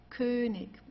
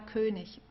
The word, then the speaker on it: König: Also hier haben wir ik, Essig, König. Okay? Also hier am Ende, das wird eher wie ein K ausgesprochen oder manchmal wie ein H, also wie du möchtest. Essig, ja, Essig oder König.